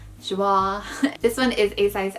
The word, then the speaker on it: Joie: This is also a 100% silk piece by Joie, which looks like Joey, but it's not pronounced Joey, it's pronounced Joie.